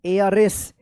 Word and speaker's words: heiress: HEIRESS, इसको क्या पढ़ेंगे? एयरएस। एयरएस पढ़ेंगे, एयरएस, एयरएस। यहाँ पे भी क्या है? एच साइलेंट रहेगा, एयरएस पढ़ेंगे, ठीक है ना, एयरएस, ठीक है।